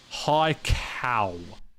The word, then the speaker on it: Haikou: Hi, Cow. That's how you pronounce it.